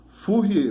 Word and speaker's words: Fourier: Então, pessoal, essa aqui é a lei de Fourier. Decore aí como é que escreve o nome dele. F-O-U-R-I-E-R. Fourier. Fourier é francês, né? Que essa aí é uma pronúncia francesa.